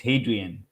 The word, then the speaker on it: Hadrian: How do you pronounce this name? Oh, it is. It's a Roman name. It's Hadrian.